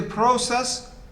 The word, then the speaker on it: process: the second syllable process so is it the first or the second is it a process or process the way i pronounce it i think it's the second syllable it should be the first so process not process process process the force is on the first setup okay what about this